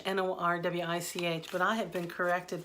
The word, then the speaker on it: Norwich: in Norwich for Americans we call it Norwich n o RW i CH but I have been corrected by many locals and it's pronounced Norwich like porridge and I would love